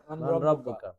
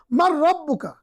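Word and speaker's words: من ربك: আমাদেরকে বলতে হবে মান রাব্বুকা। মান রাব্বুকা। আসলে এখানে আমাদেরকে বুঝতে হবে মান মানে কে, রব মানে প্রতিপালক, পালক। কা মানে তোমার। মান রব্বুকা এটা লিখতে আসে কিন্তু উচ্চারণ করতে মার রব্বুকা।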